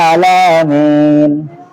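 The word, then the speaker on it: العالمين: এটা তো বর্ণমালা চেঞ্জ এমন হলো, কিন্তু বর্ণমালার উচ্চারণগত বাচন ভঙ্গিতে রব্বিল আলামিন। আলামিন আইনের জায়গায় যদি হামজা পড়ে আলামিন বলে না, তাহলে অর্থ চেঞ্জ। আলামিন মানে বিশ্ব নিয়ন্ত্রা, আর আলামিন অর্থ হচ্ছে বিশ্বাসী।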